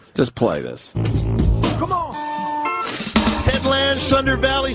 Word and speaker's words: Ted Lange: I'm saying Ted Lange. There's an E at the end.